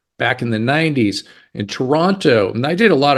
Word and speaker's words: Toronto: fact that you pronounced Toronto the right way you did not say Toronto you said toron just like everybody else does so I know you